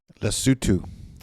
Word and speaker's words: Lesotho: Lesotho. So is that how the natives say it? Lesotho?